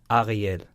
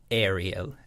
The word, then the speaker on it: Ariel: My Hebrew pronunciation is Ariel. Ariel. And in English, it's Ariel. And I tend to, let's say, less like it. But in Korean, it works pretty great. It's Ariel.